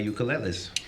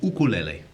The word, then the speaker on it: ukulele: my one of my ukuleles yeah or as it's pronounced in Hawaii ukulele ukulele you know the